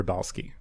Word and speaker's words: Rybalsky: And it's Beccah Rybalsky. I hope I pronounced that right.